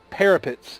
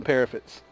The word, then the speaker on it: parapet: I had always called them parapets. P-A-R-A-F-E-T. You know, said like that. I know it's spelled P-A-R-A-P-E-T. But from all the old movies and stuff that I'd watched, I'd swear that I'd always heard them say parapet. But I guess I heard wrong.